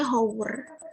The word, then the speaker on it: hour: Hour, ini tulisannya hour, tapi dibacanya hour.